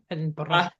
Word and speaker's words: Edinburgh: Edinburgh. That's how you pronounce it?